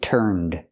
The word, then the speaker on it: turned: Tossed and turned. With turned, the n has a voiced sound. So we use the d sound for the past pronunciation of ed.